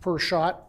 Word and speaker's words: Prashad: It's pronounced per shot, as if you go into a place to buy a beverage, it's often so many dollars per shot.